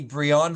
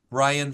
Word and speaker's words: Brion: your name because sometimes you might look at the way my name spelled and say that must be Brion for Holy actually I pronounce it believe it or not Brian so when I'll say